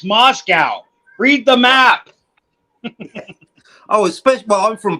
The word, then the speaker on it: Moscow: It's not Moscova, idiot. It's Moscow.